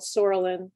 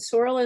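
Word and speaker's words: psoralen: takes this drug called sorelin the p is silent and then they go into a light box with uva so photophoresis does that same procedure for somebody's white blood cells and sorellen is such an interesting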